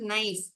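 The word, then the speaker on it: knife: என்று சொல்கிறோம் ஒரு உதாரணத்திற்கு நைஃப் கத்தி நைஃப் நாம் எப்படி சொல்கிறோம் அதனுடைய எழுத்துக்கள் என்ன கேப் இயா ஹவ் டு விடு we spell this word நைஸ் நான் this letter K is silent over here அப்படின்னா சொல்றோம் நைஃப்பா சொல்றோம்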